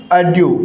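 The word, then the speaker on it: adieu: क्या हो जाएगा इसका करेक्ट प्रोनाउंसिएशन साथियों, अड्यू।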